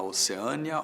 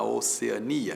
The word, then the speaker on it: Oceania: Oceania t tanto faz tanto faz as duas formas existem e você pode dizer que a Austrália fica na oceânia ou na Oceania e é claro que a sua escolha vai determinar a grafia se você optar por Oceania nada de acentos se optar por oceânia paroxítona que termine em de tongo oceânia paroxítona term de tong oceânia tem acento casos como de oceânia